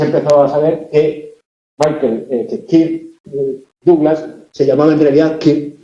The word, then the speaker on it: Douglas: El hijo de Chris Douglas, no, el hijo de Kirk Douglas es Michael Douglas. Lo ocurre que Kirk Douglas se hizo famoso en España cuando Douglas se pronunciaba a la francesa.